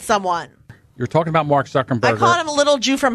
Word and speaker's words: Zuckerberg: because it offended someone you're talking about Mark Zuckerberg of a little Jew from Harvard little maybe